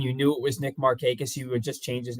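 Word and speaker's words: Markakis: I love Nick marus I don't think I could ever call him maracus no there was a there was one MLB the Show game I don't remember what year it was but they they had him programmed as marckus and that was that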